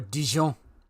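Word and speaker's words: Dijon: No, even Dion is too much for me or Djon depending depending on how you want to pronounce it.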